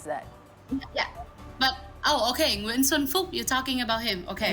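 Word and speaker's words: Xuân Phúc: K are not pronounced the K in the end is not pronounced as K but as something like that SW swan all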